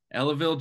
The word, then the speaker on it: Ellaville: Opens is Justin Barnes from, I think it's Ellaville, Georgia. Is that how you say it? That's right. Ellaville, Georgia, and that is on the banks of